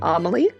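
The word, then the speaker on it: Amélie: I'm going to assume that we're pronouncing this like the movie Amaly.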